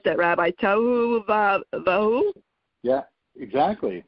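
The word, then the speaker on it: tohu va-vohu: I think it's, how would you pronounce that, Rabbi? Tohu Vahu? Yeah, exactly. Tohu Vahu.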